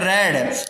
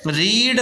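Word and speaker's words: read: अलग किया जाता है, इसको रीड मत बोल देना, आंख कान खोल के सुन लो एक बार में यहाँ पे, ये रीड मत बोल देना। दिख रहा है आपको ये रीड है नहीं, इसको आंखों से देखो, अंदर की आंखों से देखो, ये रेड है रेड, रीड रेड रेड, इसका प्रोनाउंसिएशन रेड किया जाएगा, ठीक है, कई बार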